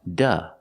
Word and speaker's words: to: the park and sometimes it's pronounced duh when it's not stressed and it's after a vowel like Goda go to work go to work flighta fly to New York he can't go to work he needs to fly to New York but he can't go to work he's sick and sometimes it's pronounced do when it's after a vowel and before the schwa sound like go to a